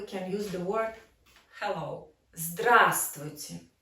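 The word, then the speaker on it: здравствуйте: use the word hello drasticity so we emphasize the first syllable drastic and this is exclamation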